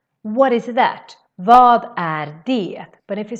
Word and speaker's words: vad: Vad är det? I actually say vad instead of vad, which would be the proper way to say it. But no, we say instead vad.